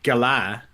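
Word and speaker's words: galah: a it's an australian gala actually i it's pronounced gala okay you know what that is it's pronounced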